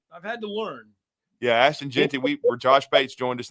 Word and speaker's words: Ashton Jeanty: How do you pronounce his name again? To Boise State, Ginty, Ashton Jeanty, or Genty.